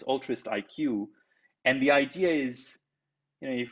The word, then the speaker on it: Altruistiq: And so, we kind of spell it altruist with altruistic with a Q. It's altruist IQ.